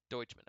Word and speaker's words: Doucheman: okay so we're saying we're gonna say deutschmann in this throughout throughout the course of the movie uh trent comes up with multiple different ways to pronounce his name uh that is not doucheman even though that's how it's spelled uh so this thing